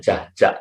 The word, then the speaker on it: Jahja: Sehingga nama saya, kalau dibaca sama orang sekarang, itu pasti dibacanya Jaja.